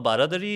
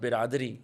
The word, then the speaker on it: baradari: So a baradari is baradari, so literally Baradari. bara and dari, it's basically entrances. So there would be 4 entrances, 4 sides that will be open. Okay, I thought you Yeah. guys mispronounced biradari. No, baradari is it's a Persianate term which basically means, imagine an open pavilion, but with 4 sides open.